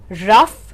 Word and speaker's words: rough: Words here are tough, rough and enough. So in all of these words, the pronunciation of OUGH is uff.